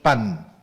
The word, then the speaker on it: Pan: Se llamaba el dios Pan, tal como suena, como el pan que comemos, se escribe igual, Pan.